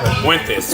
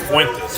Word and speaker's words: Fuentes: Fuentes. Fuentes. F-U-E-N-T-E-S. Yeah, kind of like Daisy Fuentes, PTV. Same, spelled the same.